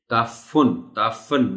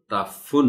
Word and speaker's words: تعفن: کے ساتھ پیش ہے، تعفن نہیں کہتے اس کو، تعفن بولنا ہے۔ خشک، یہ پھر بار